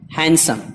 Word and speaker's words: handsome: हैंडसम, इसको नहीं पढ़ते हैं, हैंडसम के बजाय हैंडसम पढ़ते हैं, खूबसूरत।